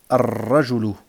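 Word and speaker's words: الرجل: Ici, ar-rajulu. Ar-rajulu. Vous voyez, pourtant il y a alif wal lam. Mais le lam, je ne le prononce pas.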